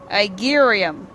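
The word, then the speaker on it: Igeyorhm: It's spelled I-G-E-Y-O-R-H-M. Igerium.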